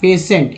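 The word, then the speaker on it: patient: समझ में आए, PAITIENT, पेशेंट। ये पेशेंट उच्चारण इसका होता है, ये N है। तो लास्ट T को ट बोलते हैं, लेकिन बीच वाले TI को उसको स क्यों पढ़ रहे हैं, तो यही कारण है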